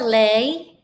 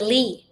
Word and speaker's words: Lê: Mr. Lê is the correct pronunciation of his last name, Lê, Mr. Lê. But he doesn't mind if you call him Mr. Lee, and majority of people call him Mr.